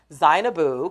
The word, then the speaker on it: Zainabu: It's not Zane, it's Zainabu Kamara, I'm pronounce her name right.